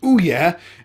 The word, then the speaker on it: Ouya: in that sentence anyway it's spelled like this it's pronounced o yeah and it's a new